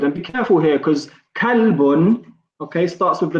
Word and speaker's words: kalbun: And be careful here because kalbun, okay, starts with the letter kaf, okay, which is pronounced as ka.